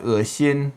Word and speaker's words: 恶心: So It's spelt with an E in some contexts in Pinyin, and it's often pronounced as a diphthong, with the tongue moving towards the center. You find it in words like 恶心, which means disgusting.